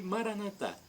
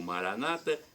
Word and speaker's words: Maranata: E Maranatá, como dizemos nós católicos, ou Maranata, como dizem os evangélicos ou protestantes. Não importa a pronúncia, vem do dialeto de